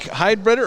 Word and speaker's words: Heidbreder: Jake Heidbreder, or did I say that right? Heidbreder, but it's Heidbreder, close okay.